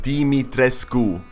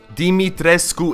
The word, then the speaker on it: Dimitrescu: all right it's pronounced dimitrescu all right dimitrescu it's not that hard even the game developers got it wrong striking what are we